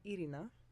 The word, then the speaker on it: Irina: And if people are not native English speakers, they speak a language where it's easier to roll their R's, then I prefer that they call me Irina, which is the original way it's pronounced.